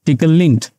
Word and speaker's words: Tclint: the lter that is TCL in that is tickle link it is pronounced as P link we'll also check for